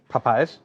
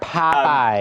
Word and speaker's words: Popeyes: Popeyes. You put the wrong emphasis on the wrong syllable there. Popeyes.